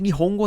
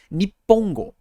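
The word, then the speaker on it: 日本語: Então existem locais em que Nihongo na verdade se lê Nippongo.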